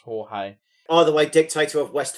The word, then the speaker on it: Jorge: There was also another Argentinian dictator that I thought was called Georgie, and it was actually pronounced Jorge.